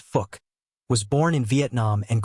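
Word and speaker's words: Phuc: Gray from Sai gone fuk tran fuk tran pronounced fuk was born in Vietnam and grew up in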